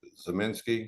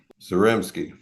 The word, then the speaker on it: Zaremski: today I have Dr Eric zaminski is that correct pronunciation the Reps game zarimski thank you he's a